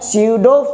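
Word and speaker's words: pseudo: स्यूडो first order जो होता है झूठा, स्यूडो मतलब ये क्या है, स्यूडो, इसमें पी जो बच्चों साइलेंट रहता है स्यूडो बोलते हैं, स्यूडो first order, P silent स्यूडो first order reaction बोलते हैं।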